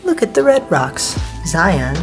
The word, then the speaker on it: Zion: Zion, or Zion, as the locals say, is right through there-ish.